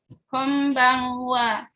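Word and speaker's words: こんばんは: An menghadapi B itu dibacanya kom. Nah, an yang sendirian itu dibacanya dekat-dekat ke ikhfa ya. Kalau kita belajar tadi dekat ke ikhfa. Konbanwa.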